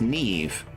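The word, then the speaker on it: Niamh: a fox girl also you can call me NE pronounce Neeve okay Neeve however you want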